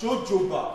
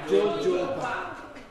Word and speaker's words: jojoba: The second word here is pronounced Jojoba. Jojoba.